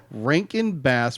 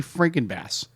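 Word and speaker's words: Rankin/Bass: its production was and I'm going to get this right cuz I always say it wrong Ranken bass Productions cuz I always say Franken bass for some reason I say freaking bass just think of oh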